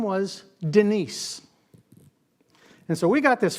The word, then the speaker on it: Denise: I'm from India and how would I pronounce Denise I'd pronounce it as Dennis if I wasn't paying attention and if I didn't